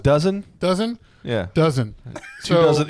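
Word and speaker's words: DAZN: two Disney pluses I was paying for two dazin uh accounts uh I watch this commercial and I'm like no one's stupid enough to pay for two Disney pluses it's pronounced it's pronounced dozen dozen yeah dozen two dozen he he he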